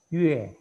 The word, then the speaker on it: yue: Nah, ini bacanya adalah Yue. Ini al. Dari mana asalnya Yue ini? Ini juga yang ada titik 2-nya ini. I yang ada titik 2-nya. Kalau ini kan I biasa. Ya, nanti bedakan.